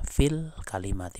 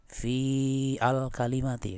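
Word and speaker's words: في الكلمة: Ini kita bacanya fil kalimati, bukan gini. Fi al kalimati kan, bukan. Hamzahnya itu tidak dibaca harokatnya gitu.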